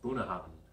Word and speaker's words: Bunahabhain: Pronounced Bunahabhain with a ben, V-E-N.